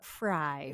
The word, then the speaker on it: Frey: a common occurrence I'm I'm my family's German used to be F like if you went over to Germany it's f y now which is super fry you know everybody sees